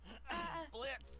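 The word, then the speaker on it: Blitzø: Are you okay, Mr. Blitz, the O is silent.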